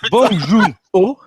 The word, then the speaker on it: Bong Joon-ho: Alors Charles, je compte sur toi pour la prononciation. Bong Joon-ho, est-ce que je l'ai bien dit?